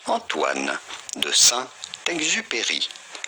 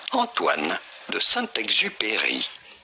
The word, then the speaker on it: Antoine de Saint-Exupéry: Terminar, a gente achou aqui, então já vou colocar aqui a pronúncia, tá? Saint-Exupéry. Antoine de Saint-Exupéry. Antoine de Saint-Exupéry. Viu, gente? Aqui é assim, ó.